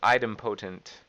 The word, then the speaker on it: idempotent: or item potent okay according to Emma saying this is item potent let me make sure I got that right item potent or item potent item